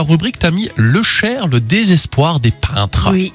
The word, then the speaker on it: heuchère: plante symbolique c'est alors j'espère que je prononce bien le Cher oui c'est ça alors ça s'écrit donc